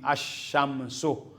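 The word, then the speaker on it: الشمس: Pag dito mo mailagay yung lam sa unahan ng syamsiya so walang sound ang L. Magiging ash ganon. magson siya sa imbes na al walang sound yung l dahil nasa unahan siya nung shin ang shin ay automatic siya maging doble mayroong shad maging asyamsu asyamsiya an halimbawa ito kamariya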